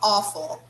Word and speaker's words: awful: how awful awful yes here the pronunciation of these two letters here is o oh yes how awful yes very nice okay like the same thing we do when we say the word awesome oh that's awesome okay